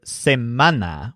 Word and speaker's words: semana: this represents the word same mana with the stress on men which means weak this